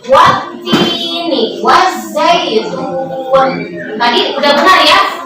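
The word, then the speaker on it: والتين: Alif dan lam, tapi tidak dibaca karena ada tasdid di sini. Jadi wattini, bukan waltini. Salah kalau waltini ya. Dibacanya wattini, wazaitun.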